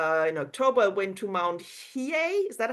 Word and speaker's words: Hiei: Justin, Also, well, our trip, Suzanne, Justin, and I were on in October, went to Mount Hiei. Is that how we pronounce it, Justin?